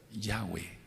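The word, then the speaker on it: Yahweh: se puede pensar ahora cuál es la pronunciación correcta yahwe No tiene otra pronunciación por favor No se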